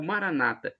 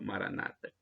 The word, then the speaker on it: Maranata: o e temos a expressão Maranata como dizemos nós católicos com a tônica na última sílaba ou Maranata como dizem os nossos irmãos separados os protestantes ou evangélicos com a tônica na penúltima sílaba Maranata não importa o